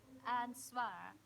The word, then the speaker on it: ansvar: But ansvar, it's pronounced ansvar in Danish, and the answer is responsibility.